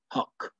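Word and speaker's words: Haqq: chant number one is h-a-q-q which is pronounced h-a-k-k or h-q-q huck which means in arabic oh truth you're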